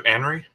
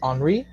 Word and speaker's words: Henri: All right, let's go to Anri. Hello everyone. My name is that's a close pronunciation, but it's pronounced Henri.